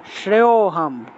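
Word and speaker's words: শ্রেয়োঽহম্: শ্রেয়, শ্রেয় ও শ্রেয় উচ্চারণ করলে অটোমেটিকভাবে একটা ও চলে আসে, এখানে আলাদা করে ও উচ্চারণ করতে হবে না। শ্রেয়োহম, শ্রেয় থেকে টান দিলেই অটোমেটিকভাবে উচ্চারণ হয়, শ্রেয়োহম আপনুয়াম, শ্রেয়োহম আপনুয়াম এইভাবে।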